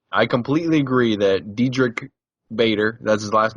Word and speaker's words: Bader: completely agree that dedri Bader that's his last name yeah is one of the most underrated actors out there see if we can Paul just likes because his last name rhymes with Vader yes that's correct isn't